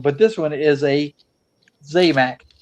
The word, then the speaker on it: Zamac: Um, but this one is a Zmac. Zac or Zamac or I've heard it pronounced a few different ways or the unpainted cars